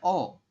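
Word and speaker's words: ㅓ: ini tulisan latinnya nya tulisan bahasa Indonesianya itu Eo tapi kita Bacanya apa bacanya hanya O ya jadi tulisan Latinnya itu Eo cuman kita Bacanya adalah O teman-teman oke bisa dipahami ya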